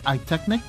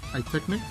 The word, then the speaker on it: iTeknic: an opportunity they're called i technic i believe that's how it's pronounced high technique and if you guys notice